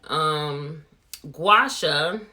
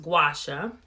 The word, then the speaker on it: Gua Sha: Gua Sha, that's how you pronounce it. A lot of people see the word and they're like, well, how do you even pronounce that? It's pronounced Gua Sha.